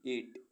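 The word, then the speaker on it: eight: गैस gas means अनुमान ऐसे words जिनमें अल्फाबेट जी एच साइलेंट रहता है ई आई जी एस टी एट एट मीस आठ बी आर आई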